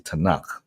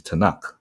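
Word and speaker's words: Tanakh: n and the K so that it can be pronounced as a word but the acronym is actually TN and K T stands for Torah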